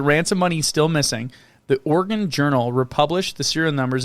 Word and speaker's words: Oregon: oregon we've been saying oregon and it's more like oregon like organs yeah like i'm an organ donor organ that organ or